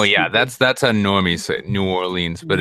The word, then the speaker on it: New Orleans: I'm right above Louisiana they don't say New Orleans they say N'awlins no it's some touristy